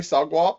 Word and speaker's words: SOGWAP: Did you pronounce it that way, SOGWAP, or?